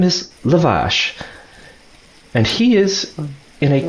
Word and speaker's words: Lavash: Lavash, L-A-V. Luvush. No. Luvash. Or ASH. Sorry, Luvash. Luvash. Lavash, depending your accent. Depending on how north you are.